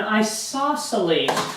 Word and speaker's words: isosceles: An isosceles triangle. That's how you pronounce this funny looking word here.